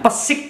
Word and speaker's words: Pesik: Karena Kuningan, Pesik Kuningan, tanpa R ya, Pesik, PESIK, Persatuan Sepak Bola Indonesia Kuningan, ini lahir 1938.